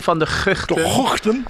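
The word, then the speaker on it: van der Gugten: Well, if I go really Dutch, it's the Guchten, the Tim van der Guchten, which probably doesn't sound great if people are listening, so I apologise for that.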